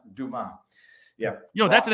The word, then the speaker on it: Dumas: was and he goes it's pronounced duma yeah you know that's